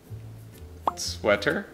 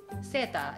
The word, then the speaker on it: sweater: So the English pronunciation of seta is sweater. Right. Sweater. No one would ever understand if you said Seta.